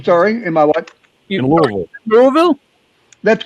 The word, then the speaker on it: Louisville: In Louisville.